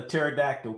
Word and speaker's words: pterodactyl: a pterodactyl p m why can't you hear a pterodactyl P why because the p is silent 988 if you